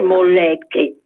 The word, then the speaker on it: molecche: Una volta che si parla veneziano si dice molecche, perché la L fra due vocali non si pronuncia.